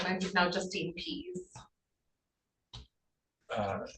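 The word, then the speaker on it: Pease: name I'm now Justine PE uh how how do you spell that it's a p e a s e p e a s e yep just it's please without the L uh p p a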